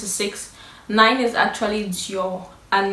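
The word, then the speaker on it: 九: 9 but yeah um the way he pronounces the nine is not quite correct because the tone is is not correct it's but he said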